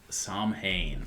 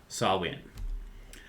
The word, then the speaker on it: Samhain: to start off by talking about samhain or to pronounce it more correctly sawwin uh now wait sauwen